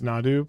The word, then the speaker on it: Nadu: It's Nadu, please. What am I saying? I'm putting an N in there.